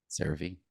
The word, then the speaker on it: CeraVe: And then it's kind of funny, like Michael Cera. So you kind of remember the name, CeraVe.